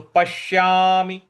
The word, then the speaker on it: पश्यामि: न पश्यामि पश्यामि पश्यामि म पर छोटी इ की मात्रा है तो पश्यामि पश्यामि नहीं बोल देना है